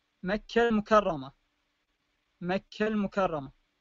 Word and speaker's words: مكة: مثال توضيحي مثل مكة، مكة المكرمة، مكة المكرمة. فإذا وقفت على كلمة، على كل كلمة ستجدها هاء، مكة مكة، هنا تلفظ هاء، لأن تلفظ هاء في